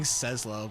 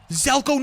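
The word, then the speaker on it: Zelco: I gotta start saying Zelko. I keep on saying Sezlo, but it's Zelko. Zelko. Look at that. I think the C is silent. It's Zelko. Z-E-L-C-O. Zelko. All right.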